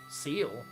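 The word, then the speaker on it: cele: Seal. Well, see, yeah, seal.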